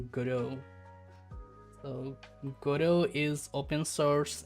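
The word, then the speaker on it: Godot: It's not pronounced gurot. It's pronounced guru.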